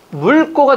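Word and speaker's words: 묽고: 기역 다음에 기역이 오니까 같은 소리 두 번 내기가 어려워요. 그러니까 어떻게 된다? 어떻게 발음이 내야 돼요? 물꼬로 합시다. 거기 여러분들 편하게. 어떻게? 물꼬예요? 묵꼬예요? 물꼬가 되는 거죠.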